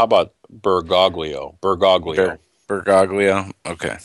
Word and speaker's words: Bergoglio: was looking at that earlier uh how about bergoglio bergoglio bergaglia okay bergoglio that's how i would pronounce it okay okay he's a jesuit because